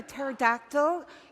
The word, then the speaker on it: pterodactyl: can see from that why can't you hear a pterodactyl use the bathroom because the p is silent dad why why all